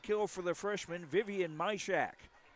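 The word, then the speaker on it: Majkrzak: The third kill for the freshman Vivian Mishack, which is spelled M A J K R Z A K.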